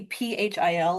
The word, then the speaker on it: Phil: If you ever see ph i l, it's pronounced phil. Yeah. Any ph together is going to be the f sound because it wouldn't exist in English words at all.